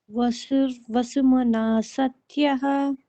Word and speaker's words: Vasumana Satyah: then we'll just take off the visarga and add an additional S. Vasur-vasumana satyah. Vasumana Satyah. And the sa would have to be second, like, just assume there are two S's there and then pronounce both S's at the same time.